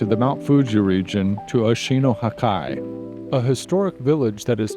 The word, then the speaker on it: Oshino Hakkai: And now we were going to hit the road to the Mount Fuji region to Oshino Hakkai, a historic village that is now a popular tourist destination.